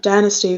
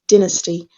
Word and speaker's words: dynasty: who are curious uh like alex said it's like a dynasty for uh the american pronunciation and for the british one it's dynasty okay so uh like a